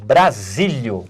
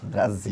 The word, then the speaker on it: Bazílio: Estamos de volta aqui com o Nelson Brasílio. Brasília. Tinha pronunciado errado, Brasília.